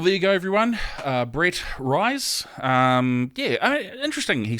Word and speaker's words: Ruys: Brett Ruys. Interesting, he said. Not rice or Reese, which is what I actually thought it had been for a number of years, but he said rhymes with guys.